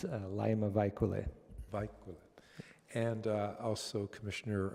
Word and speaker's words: Laima Vaikule: be a special guest Liam how do you pronounce her last name it's laima vaikule a bike and also commissioner adoption will be